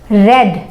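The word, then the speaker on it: read: I have रेड, रीड रीड रीड spelling same ही होती है बट उसे पढ़ा जाता है आई रीड, रेड रेड के जैसे पढ़ा जाता है।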